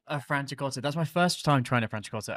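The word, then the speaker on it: Franciacorta: rating because that's my first time can you pronounce it for me again um francha cot a francha cot that's my first time trying a francha cot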